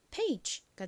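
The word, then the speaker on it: page: 알려드렸던 장모음 규칙 기억나시나요 장모음 규칙이란 모음이 두 개인 단어에서 끝 모음이 이인 경우 첫 번째 모음은 장모음 소리가 난다라는 규칙입니다 모음의 장모음 소리는 그 모음 알파벳의 이름과 동일하죠이 A 장모 소리는 a입니다 그래서 이런 경우에는이 AG 부분이로 발음이 됩니다 자 가장 앞에 니까이 AG 소리랑 연결하면 페이지가 되죠 페이지 저희가 뭐 책장에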